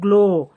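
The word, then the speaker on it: glow: इथे हा सायलेंट आहे जी एल ओ डब्ल ग्लो ग्लो ची स्पेलिंग झाली जी एल ओ डब्ल गलो आता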